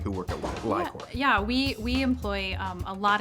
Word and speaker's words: LI-COR: It's pronounced Li-Cor.